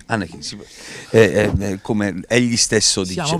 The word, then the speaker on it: Anecchino: Allora, Enrico Annecchino, si scrive con una N, si pronuncia con due. Quindi Annecchino. Annecchino, come egli stesso Siamo dice.